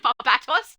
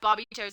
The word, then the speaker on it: Barbatos: And thank you so much for bringing up the incorrect pronunciation of Barbatos. Now I have Barbie toes in the back of my mind.